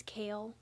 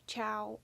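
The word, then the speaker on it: Chaol: Don't you say his name is Kale? I don't know. Chow. I pronounced it as Chow when I was reading, but I think it's Kale.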